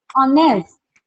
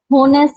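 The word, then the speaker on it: honest: इन the same way आर और ओनेस्ट, आर ऑनेस्ट, ठीक है, होनेस्ट तो नहीं है ना, अगर होनेस्ट होता तो क्या लगता ए, अभी हमारे पास क्या है ओनेस्ट, प्रोनाउंसिएशन ऑनेस्ट है तो लगेगा एन, क्लियर?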